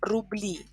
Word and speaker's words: рубли: sign, and it becomes рубли. And again, as you can see, the stress in singular is falls on u, рубль, рубль, but in plural, рубли, e is stressed, рубли.